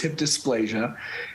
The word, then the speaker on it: hip dysplasia: And what is hip dysplasia? You are saying it right. It is hip dysplasia.